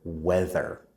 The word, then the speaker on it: weather: world to say because it has the sound vv. That sound is very rare in the world's languages. In English, we have two sounds that need us to stick our tongues out. The first one is F. We write that with th.